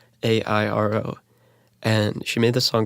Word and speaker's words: Clairo: Her name is Kaleido, I think is how you pronounce it, but it's Clairo.